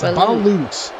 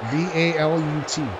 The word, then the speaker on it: balut: Wait, don't say Blute. It's Balut. It's typed like this, Justin. It's spelled like this. B-A-L-U-T. Balut.